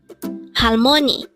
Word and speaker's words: 할머니: Halmoni. Again, it's halmoni. This is pronounced as a 3-syllable word.